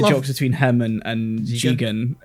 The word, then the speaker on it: Jigen: where like they mispronounce Lupin specifically mispronounces the names a lot. So he Oh. calls Goemon Goemon, and he calls Jigen Gigan. But then like, Oh. but then like halfway through, Goemon says, "You're pronouncing your names wrong. I'm Goemon." Yeah, he's Jigen, that's and you're Lupin.